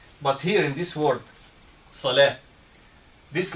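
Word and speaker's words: صلاة: Salat with T. This is not correct. It's Salah. This is how to pronounce.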